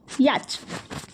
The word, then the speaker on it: yacht: Number 7 a boat with sales and sometimes N engine used for either racing or traveling for the pleasure, rhymes with caught. It is yacht.